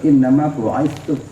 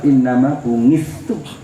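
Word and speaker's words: إنما بعثت: Bacanya yang benar, innama bu'itsu. Kalau lidah Jawa, innama bungistu.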